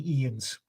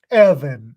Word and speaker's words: Ian: her for decades, and she never ever A, pronounced my name correctly, or B, pronounced the same way twice. Evan, Ion, Ivan, at one time. But, never got Ian, but got everything else.